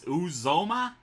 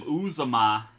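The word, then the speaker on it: Uzomah: been mispronouncing his name i think it is uzoma i've been calling him uzuma i'll just call him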